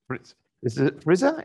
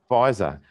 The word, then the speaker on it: Pfizer: an 84-year-old get the first jab of the Frizer? Is that how you pronounce it? Pfizer.